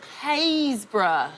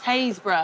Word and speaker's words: Happisburgh: Haysborough. What? Yes, Haysborough. And it's spelled H-A-P-P-I-S-B-U-R-G. There is a lot of places in England that are completely not spelt how they sound.